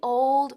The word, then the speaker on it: old: el pronombre One The Old One la vieja muy bien Ahora Cuidado con la pronunciación de old que no es old sino old old repite conmigo old